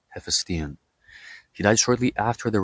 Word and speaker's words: Hephaestion: Keep in mind that this is how we pronounce the name, Hephaestion. In English, they call the name Hephaestion or Hephaestion. That's how I think they pronounced it in the movie Alexander. But it's nowhere near how we say it, Hephaestion.